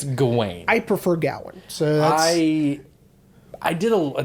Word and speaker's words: Gawain: the actual pronunciation is gawain because it's w-a-i-n just like my name being rain so i think it's